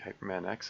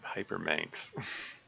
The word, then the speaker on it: Hyperman X: Let's see, Hyperman X is on. Hypermanx. Someone pronounced it Hypermanx.